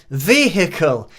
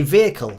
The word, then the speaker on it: vehicle: And we just say vehicle here. We don't put any emphasis on the H.